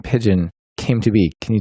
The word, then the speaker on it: Pyjion: He came up with Pigeon, which is spelled Pyjion. It throws everyone for a loop until Dino or I tell them it's pronounced Pigeon.